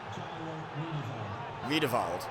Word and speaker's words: Riedewald: Riedewald, it's pronounced.